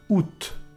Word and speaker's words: août: And finally, August becomes août. Août. In France, some people will pronounce it ou, but I most often hear août. And yes, you have to pronounce the final T here.